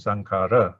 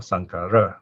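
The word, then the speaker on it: saṅkhāra: so this is singular notice the last case underline it is a normal short a one count sankara okay normally we pronounce indian style sankara okay plural sankhara okay so my name also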